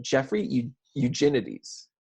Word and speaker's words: Eugenides: I know we just went over how to pronounce this, like literally 2 seconds before the episode started, but Jeffrey Eugenides.